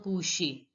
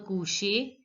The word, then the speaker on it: coucher: So it is j'en ai envie et me coucher. Here also ER is in the end of the word, so it is pronounced as AY. Et me coucher quand je suis fatigué.